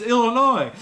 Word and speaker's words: Illinois: you're gonna say it say it right it's illinois and he said well the s is silent get it out of there i said well i